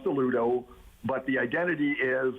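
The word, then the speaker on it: Alludo: Rebrand so it is now rebranded itself as a Ludo that's a um a-l-l-u-d-o and it's kind of so it's pronounced the Ludo but the identity is it's all you with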